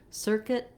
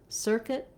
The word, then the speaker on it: circuit: In circuit, kit, kit, you can hear how you can almost even use a schwa there, an sound, circuit, because it's so short. It's a reduced vowel.